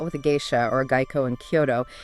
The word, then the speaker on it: Geiko: And in Kyoto, you'll often hear Geiko, G-A-Y-koh for the fully fledged artists.